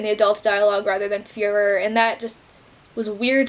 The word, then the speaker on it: Führer: So, like, Bruno would say Fury instead of Führer, but it would say Fury in the adults' dialogue rather than Führer, and that just was weird to me.